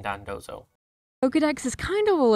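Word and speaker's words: Dondozo: very cool slight editor no it's pronounced tatsugiri and Don dozo Pokedex is kind of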